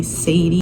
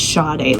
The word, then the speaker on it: Sade: Sometimes they say Sadie, sometimes they say Sade. I tell people when I was in high school and school in general, I would tell them it's Sade. I have to pronounce my name right to them. It's Sade. So Sade, like the singer.